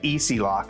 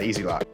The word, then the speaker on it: Easilok: It's like Easilok is how it's pronounced, I believe.